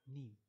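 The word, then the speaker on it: नीम: Sanskrit it comes, and the word in Hindi is neem, or rather it is written in this way. So this is same as pronouncing neem.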